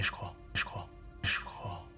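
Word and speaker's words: ch'crois: écoutez, C'est un manet, je crois. mais en plus, en contact avec le son K, il y a un phénomène d'assimilation et le J devient sourd et se prononce ch.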